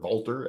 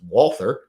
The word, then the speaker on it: Walther: little uh Walter clones or Walter as people like to say but I say don't say that because we won the War so we decide how letters are pronounced uh and it's Walther so uh I think